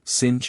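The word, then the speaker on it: singe: a piece of bark he learned from darnet that it was pronounced um and in the same way he was taught to pronounce ape sing and tree arbra he was a most eager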